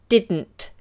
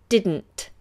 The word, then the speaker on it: didn't: and that's another one didn't we leave the tongue up on the roof of the mouth for the second D did didn't didn't all right now lots